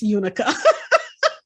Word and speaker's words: Eunike: because I was like, I have no idea how to pronounce Eunike. And I'm so glad that I heard someone speak your name before I had to speak your name, because I would have never guessed Unica.